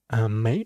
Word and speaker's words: 妹: So may, it's, if you can see this, it's probably pronounced like may.